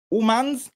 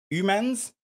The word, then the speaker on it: humans: Alors, un autre cas que nous avons ici, la prononciation du mot humans, non. Humans, ouf, non, non plus. On dira plutôt humans, exactly.